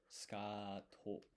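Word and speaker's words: スカート: But this su here, this u is silent. So when you pronounce it, it's kind of like ska to, like this.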